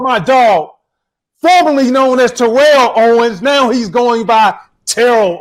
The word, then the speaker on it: Terrell Owens: been born december the 7th 1973 it's been terrell owens let him know let them know my name